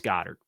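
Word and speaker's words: Goedert: I'll say it three times the charm Dallas Goddard okay the message has been received please don't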